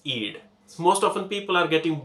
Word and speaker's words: id: is eid i d the pronunciation of this is eid most often people are